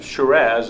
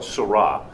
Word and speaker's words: Syrah: It is 51% Shiraz, as they call it. We call it Syrah. Same grape, just a different pronunciation. They've got a different accent than we do.